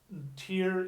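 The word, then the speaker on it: Týr: tea wash that was tear is the Norse pronunciation the our sound on the Old Norse is equivalent to the AZ sound you know English tea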